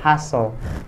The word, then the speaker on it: hustle: Hustle, ini bukan hustle atau hustle, bukan, tapi dibacanya hustle karena T-nya di sana dihilangkan. Alright, T-nya dihilangkan jadi hustle.